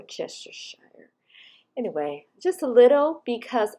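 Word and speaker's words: Worcestershire: we're going into the worship shire yes that's how i say it and i think that's how it said i don't think it's so hard to say but i do all syllables we're chester shire anyway just a little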